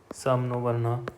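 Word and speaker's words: शं नो वरुणः: The emblem of the Indian Navy contains the motto Sam No Varuna, pronounced Samnovarna, which means be auspicious to us, O Varuna.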